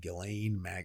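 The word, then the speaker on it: Ghislaine: makes a connection with Gileain Maxwell. Okay. I'm pretty sure it's Gileain. Yeah, I've heard Galileain. He's okay. They're all different pronunciation. I'm I'm sticking with Gileain.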